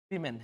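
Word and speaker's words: women: वुमेन है। समझे बात को? याद रखिए। वुमेन वुमेन फर्क यहां पे हो रहा है। पर इसका उच्चारण बदल जा रहा है। ये वुमेन नहीं होता है।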